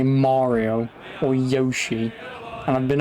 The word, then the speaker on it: Mario: Yeah, it's Mario. Not Mario or Mario.